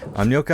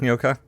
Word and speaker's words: Nyoka: And I'm sorry, I have to pronounce her name like Gnocchi, because even though it's spelled totally wrong, i.e. not with a G, but that just looks to me like that's how her name should be pronounced.